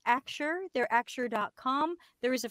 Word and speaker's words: Axure: It's got an X, and it's pronounced AXURE.